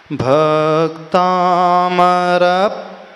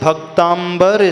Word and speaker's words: भक्तामर: अक्षर आता है प्र लेकिन एक बात और बता दे प्रायः सभी लोग इसे भक्तांबर स्तोत्र बोलते हैं क्या बोलते हैं कौन सा स्तोत्र है